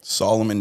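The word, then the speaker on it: Salomon: like it's spelled like salmon. Okay. Solomon shoes.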